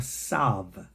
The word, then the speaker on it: tav: And of course, tav, in the Ashkenazi, they will pronounce the alternative as an S or a sav.